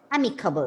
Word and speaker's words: amicable: for friendly indicators yes the stress is on the first first syllable and you have to pronounce the word as amicable okay and what is